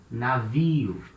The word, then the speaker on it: navio: For example, at the start of a syllable, navio, it means ship. Navio. So letter N at the beginning of a syllable, it has the same sound as letter N in no, for example, in English.